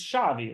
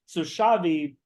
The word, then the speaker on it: Xavi: so for people who don't know, so um, it's Xavi, right? That's how you pronounce it, right? Because yeah, so Xavi, was legendary midfielder at Barcelona.